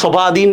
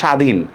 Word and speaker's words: স্বাধীন: যেমন দেখেন আমি লিখলাম স্বল্প বা স্বাধীন। দেখেন তো বফলার কি উচ্চারণ হয়েছে এখানে? আমরা কি শোভাধীন এভাবে বলতেছি নাকি স্বাধীন? বফলার কিন্তু কোনো উচ্চারণ হচ্ছে না, ঠিক না?